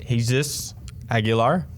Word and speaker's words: Jesus Aguilar: I had Jesus Aguilar.